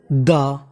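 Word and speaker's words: the: वज का मतलब थे द आप इसे चाहे तो दा भी पढ़ सकते हैं और दी भी पढ़ सकते हैं दोनों ही उच्चारण हमारे सही माने जाते हैं यह हमारा आर्टिकल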